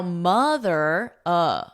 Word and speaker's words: mother: Here the poem is saying that the OTH is not the same in the word moth and mother. So here we have an aw, maw, moth, oth. Now this is the same word, a moth, They're exactly the same. Now mother, mother. A moth is not a moth in mother.